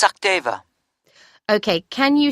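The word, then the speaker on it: Sachdeva: It's Sakdeva. Okay, can you spell that for me?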